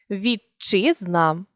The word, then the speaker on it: вітчизна: вимові ж жати також якщо перед шиплячим стоїть звук Д чи т то у вимові він зникає і з'являється подовжений шиплячий вітчизна ти зник і з'явився подовжений ч на цьому теоретичний матеріал